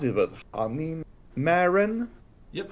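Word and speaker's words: Honeymaren: This new card from Set 7 called, I don't know how to pronounce it, but Honey Marin. Yep. Honey Marin.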